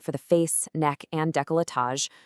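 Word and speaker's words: décolletage: A typical treatment for the face, neck, and decolletage, which is pronounced deolatage, takes about 45 to 60 minutes.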